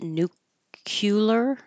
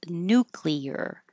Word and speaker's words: nuclear: people are pronounce it nucular I think and um so you will hear it pronounced a different way but the more standard way is nuclear nuclear work again it